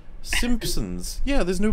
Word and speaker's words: Simpsons: in the class like people gradually realizing there's no P pronounced in Simpsons while while pronouncing the P it's just like what are you all doing it's like Simpsons yeah there's no P